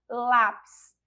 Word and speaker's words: lápis: Aqui agora, ó, lápis. A gente já vê pela presença do acento agudo que a sílaba tônica é a sílaba lá, que também aí não é a última sílaba, então não é a oxítona.